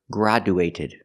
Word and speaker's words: graduated: cannot pronounce the word graduated we need to change two sounds first not gr but gr use the a sound like black cat gr and the D changes to a j sound like juice and